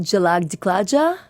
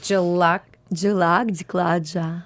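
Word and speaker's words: Jhalak Dikhhla Jaa: Now, pronounce it for me again. Indian. It's called Jalak Diklaja. Jalak Diklaja. Wait, I'm going to try and pronounce it. Wait, Jalak Diklaja.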